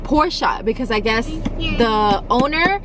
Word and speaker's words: Porsche: always thought that this car was called a porsche but then when we went we learned that it's actually pronounced porsha because i guess the owner that's his last